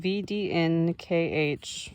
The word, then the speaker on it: VDNKH: I went to VDNKH, footnote, pronounce VDNK, the Russian initials denoting